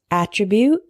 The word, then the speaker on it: attribute: with me alternate alternate the next one is attribute and attribute attribute is a noun meaning a